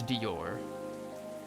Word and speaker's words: Dior: you're not sure okay so it's Dior Dior like you're not sure uh if you're a